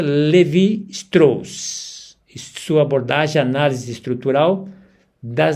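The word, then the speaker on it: Lévi-Strauss: influenciou a psicanálise, especialmente através das figuras como Clou Levraus e sua abordagem. a análise estrutural das narrativas e mitos em contextos clínicos. Apenas um minut eh recuperando a a pronúncia Levi Strs, sua abordagem, análise estrutural das narrativas e mitos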